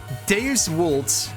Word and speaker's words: Deus Vult: Deus Vult, to pronounce it a little bit more correctly with Latin, spelled D-E-U-S-V-U-L-T, 2 words, split between the 4 letters,